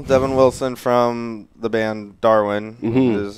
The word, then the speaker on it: DARWN: got Dalton little Devin Wilson from the band Darwin how it's pronounced you go in I have I have